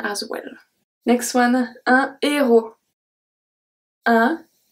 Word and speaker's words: héros: Next one, un héros. Un héros. Don't pronounce the H.